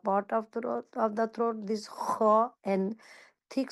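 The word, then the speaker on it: ح: This one हा like breathe but pronounce from the middle part of the throat and ha top part of the throat. Pronounce from the top part of the throat this ha and thick sound and a little bit like ha.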